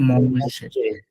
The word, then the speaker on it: mange: সো এখানে দেখেন মঞ্জে, মঞ্জে ছিল টু ইট, উচ্চারণটা হচ্ছে মঞ্জে।